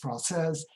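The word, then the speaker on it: Française: You know that Francais is the masculine, and when you add an E and it gets pronounced Francaise, that would be the French woman as opposed to the French man.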